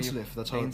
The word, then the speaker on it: Dainsleif: That's Yeah, that's how you- Dainsleif. That's how you pronounce his name.